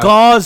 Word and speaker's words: Gauss: let's say Gauss yeah but it's Gauss not Gauss Oh listen to me so we don't want to say Gauss I'm saying cows cause it's pronounced gauze pads nope sorry I don't